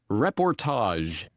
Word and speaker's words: Reportage: It is Reportage Essays on the New World Order. I I'm Canadian, so you know, it's got to be fancy schmancy French Canadian kind of sound.